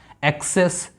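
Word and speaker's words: access: इसी तरह next one एक्सेस, सी के बाद ई है तो इसको सा, इसको का।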